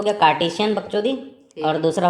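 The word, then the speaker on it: Cartesian: तो जो एक्स वाई वाला तरीका है उसको घटिया अंग्रेजी लोग नाम दिए कार्टेशियन प्लेन। ठीक से प्रोनाउंस नहीं होता था मेरे से तो पहले, कार्शियन बोलता था मैं।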